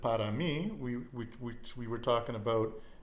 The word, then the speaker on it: mí: There's also one word that we said, para mí, which we were talking about in 2 of the other lessons. That's spelled M-I, but pronounced me, okay?